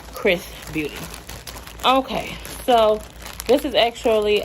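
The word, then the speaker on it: XRS Beauty: were kind of wondering Chris is XRS but it's pronounced Chris Beauty okay so this is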